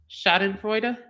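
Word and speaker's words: Schadenfreude: to it so I can remember how to pronounce it um it is shoten fra why why that's a German word the satisfaction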